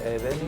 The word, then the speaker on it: ēvēnit: Brevī est bene, semper ēvēnit Yes... nice... Letter 'v' reads as 'w' just as in English -'ēWēnit' -'ēWēnit' very good, ēvēnit Brevī est bene, semper ēvēnit, sī pēniclīs Cinghiale.